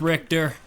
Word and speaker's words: Richter: Do you main Richter or Richter, however his name is pronounced? It's Richter.